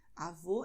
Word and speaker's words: avô: Avô é o pai da minha mãe. Então, avó é um som aberto, avô é um som fechado.